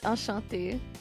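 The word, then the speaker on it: enchanté: How do you say enchante? Encante. Encante. In France, it's Ashante. Ashant Ashante, as they say.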